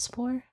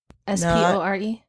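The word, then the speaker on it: spoor: Like a mold spore? S-P-O-R-E?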